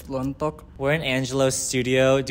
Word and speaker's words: Lontok: I'm here with Angelo Lontok, or if you're pronouncing it right, it's Lontok.